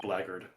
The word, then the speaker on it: blackguard: Heads up, blackguard is just pronounced blackguard.